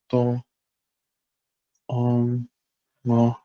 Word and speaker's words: domo: So if we say it like this, with all high tones, do, so do, mo, domo, domo, means to start, to begin, to commence.